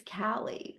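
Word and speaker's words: Caleigh: names because I W my daughter's name is Callie and it's spelled c a l e i g h and nobody said her name right so I watch the poor girl's face her whole life go it's Callie so that's why I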